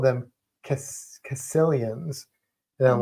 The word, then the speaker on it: caecilians: And he mentioned Sicilians, which are amphibians, they're not snakes, but he called them caecilians.